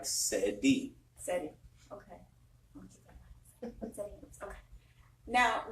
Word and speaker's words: Ceddi: We are at Spot On Lounge in Sacramento, and we have Ceddi. Sorry so much. It's like Cedric. Okay, like Cedric. Like Ceddi.